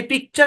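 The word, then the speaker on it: picture: ল্যাটিনে এই পিকচার শব্দটাকে এইভাবে লেখা হইতো, ল্যাটিন ভাষায় পিকচার শব্দটাকে এইভাবে লেখা হইতো।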